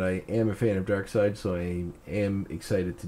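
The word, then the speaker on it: Darkseid: the graphic history of dark side or dark seed if you want to pronounce it incorrectly whoever dark side is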